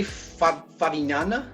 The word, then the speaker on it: Favignana: Is that how you pronounce it, Vitor? I will say Favignana.